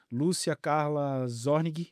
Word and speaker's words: Lúcia Carla Zornig: Hoje eu estou com mais uma convidada de peso, Lúcia Carla Zornig, é assim que se pronuncia o seu Sim, nome?